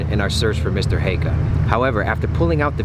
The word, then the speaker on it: Heikka: how do you I'm in that pronounce school his right now. name? Mr. Heikka. Mr. Heikka.